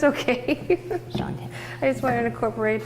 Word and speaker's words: Shante: Shante. I just wanted to incorporate the lard or the shortening. I hope I keep calling you Shante and not Shonda, because your name is Ryines.